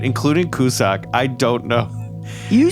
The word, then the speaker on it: Cussac: Yeah, the C is silent at the end. The rest is right. Cussac.